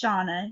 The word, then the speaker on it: Shauna: it's Shauna. It's Shauna. Swedish.